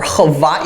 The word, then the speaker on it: Hawaii: major military base in Hawaii right or Hai if you're a snob and want to pronounce it the right way so China has um